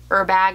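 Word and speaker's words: Herbag: i would like a er bag which i pronounce it her bag but i know you don't pronounce the h um 31 zip i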